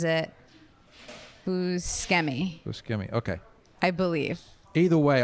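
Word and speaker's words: Buscemi: So I think that I call it I say Bushi, but I think I'm wrong. I think that's the Italian way to say it is Bushi, but I think he pronounces it Bkei. Busi.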